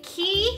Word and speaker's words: Quay: these are the key which I struggle pronouncing for forever finally got it qu I still want to say Quay but q k key key key key sunglasses hers are